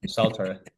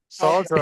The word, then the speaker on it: Saltaire: I don't think Oh, Just the pronunciation of it. Yeah. yeah. Saltaire. Salter, I've heard someone say, yeah.